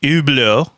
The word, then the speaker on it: Hublot: So here it is, the Hublot, with the correct pronunciation, which is not focusing.